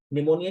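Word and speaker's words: pneumonia: निमोनिया जिसको हम आज निमोनिया की स्पेलिंग जैसे पी से शुरू होती है सो जो है वो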